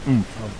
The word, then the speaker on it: oomph: Guys, it looks like he still has some ump on the ball. It's pronounced oomph. It's pronounced oomph, Carl.